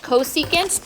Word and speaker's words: cosecant: Its shorthand is CSC, and it's pronounced cosecant. Don't call it anything else. It's called cosecant.